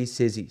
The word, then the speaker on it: Sissy: and I put suggestion, no, it rhymes with busy and it rhymes with breezy. And it rhymes with jizzy. I don't know. Those are the three things that it rhymes with. Nothing else. It doesn't rhyme with city.